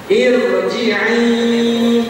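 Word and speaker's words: ارْجِعِي: contoh dalam surah alfajr irjii irjii Ir Jadi bukan hanya tidak nipis Ya seharusnya tadi kan sebelumnya kasrf nipis Ir ir tidak begitu tapi tebal Ir irjii irjii itu beberapa kaidah Kapan huruf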